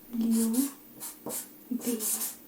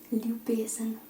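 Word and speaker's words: ljubezen: So love is Liu Besen. Liu Besen. This is love. Okay? Liu Besen. Zen. It's like a zen.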